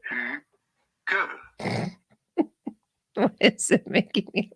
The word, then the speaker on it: Hygge: How do you go about pronouncing it? Pretty straightforward. Hygge. Oh. Hygge. Hygge.